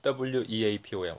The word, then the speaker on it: weapon: weapon 하면 W-E-A-P-O-N. weapon. 자, P 발음이 피읍하고 쌍비읍하고 이렇게 약간 그 중간 발음 하시면 돼요.